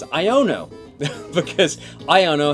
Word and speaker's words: Iono: I asked you what you thought of uh Ionia which is the wrong name it's iono because I don't know how to pronounce things apparently um this week what do